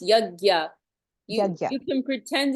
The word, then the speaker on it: yajna: or sacrifice or no yajna yajna or sacrifice um it's it's it's a little um confusing but it's pronounced yagya you can pretend it's